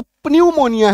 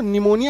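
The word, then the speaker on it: pneumonia: आई ए तो सोच लिखा हुआ तो पनम मोनिया है इसको निमोनिया क्यों बोलते हैं है ना तो उसका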